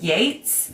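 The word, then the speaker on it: Yeats: I'm talking about Keats, I have to say Keats and Yates in my head silently. So, you remember which is witch. So, I because they're spelled the same way.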